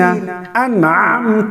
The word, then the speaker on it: أنعمت: تو ایسے پڑھیں گے صراط الذین انعمت، عین کو ہم سختی کے ساتھ ادا کریں گے، انعمت علیہم، تو ہجے